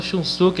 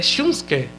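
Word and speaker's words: Shunsuke: Então é o curioso que eu tava falando shunuk aqui, mas a na verdade a pronúncia é é shunske. É shunsk pronúncia.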